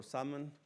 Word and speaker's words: salmon: So in English, we don't say the L for salmon or the S from island.